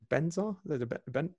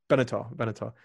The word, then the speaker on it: Benatar: Is it Benzar? Benatar.